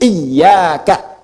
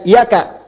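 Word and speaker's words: إِيَّاكَ: Ketujuh-tujuhnya ketika membaca iyaka na'budu, maka bacaan iyanya, ya bacaan iyanya bitasdidil yai min iyaka. Bacaannya pakai tasydid iyaka. Jadi bukan iyaka.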